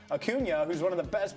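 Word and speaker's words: Acuña: And they did it by jumping on Atlanta, taking advantage of some miscues in the outfield by Aun Ronald Akuna. I always say his name wrong. Akunia, who's one of the best players in baseball.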